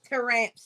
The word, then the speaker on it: Taramps: Terry what is it say it again toe ramps to ramps y'all so that's how I say it but just because Damian is here I have to say it like that so I am a